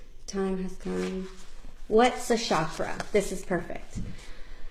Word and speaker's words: chakra: has come what's a chakra this is perfect so it's properly pronounced with a hard CH as in church chakra but that's a sh